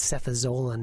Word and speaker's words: cefazolin: a George Bernard Shaw play, nor is it pronounced Canada, which is the country up north. And it's prostate, not prostrate, and it's cefazolin, that's Fazolin.